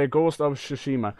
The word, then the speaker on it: Tsushima: Ghost of, I hope that's how you say it, Ghost of Tsushima, which sounds like sushi. I call it Tsushima, so.